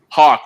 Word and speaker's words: Haack: HAACK. Ryan HAACK. He's not a hack, people.